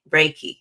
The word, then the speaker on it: Reiki: to make sure I'm saying it right again Reiki Reiki yes okay so for those of us that do not know what raiki is Dr mwa is GNA tell us all about it okay very good so Reiki is an energy healing modality and basically it